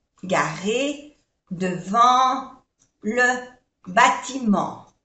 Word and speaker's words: bâtiment: La voiture est garée, no se pronuncia esta E, garée devant le bâtiment. Otra vocal nasal, en, no se pronuncia la T, bâtiment, le bâtiment.